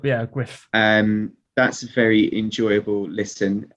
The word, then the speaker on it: Gruff: It might be gruff. It's spelled gruff, but I think it's Griff. I think it's, Griff.